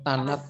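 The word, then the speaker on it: Thanat: 3 tahanan Tanat gitu bacanya Tanat Oman.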